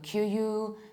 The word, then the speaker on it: queue: No, this word is pronounced as simple as that. Q. Just Q. Both in British and American accent is also Q. So the word itself sounds like a letter Q, and this is how we pronounce it.